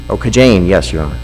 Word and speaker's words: Kajaine: KAJAINE? Oh, KAJAINE, yes, Your Honor.